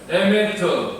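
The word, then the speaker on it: אמת: 헤세드와 메트라는 말로 나타나고 있는데요 한번 여러분들 히브리어를 발음을 해 보시기 바랍니다 헤세드 헤세 에메트 에메트 헤세드는 무슨 뜻이냐면 사랑 용서 긍휼 선하신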